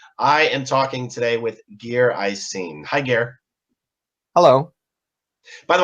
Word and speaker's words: Geir Isene: The correct pronunciation is Geir Isene.